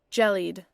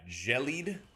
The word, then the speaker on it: gelid: I think it's spelled like gelled. Jellied. Yeah, jellied.